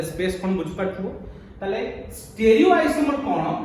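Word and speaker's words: stereo: isomer तो what about स्टेरियो isomer स्टेरियो meaning of स्टेरियो actually pronunciation होची स्टीरियो हां हमें ओडिया लोग कोन स्टेरियो कहि दोछि स्टेरियो मींस स्पेस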